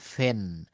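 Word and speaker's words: pen: ফি যেমন এটা আমরা পেন বলি কিন্তু এটা আমরা ভুল উচ্চারণ করি এটা পেন হবে না এটা হবে ফেন ফেন ফেন পিপল ফিফল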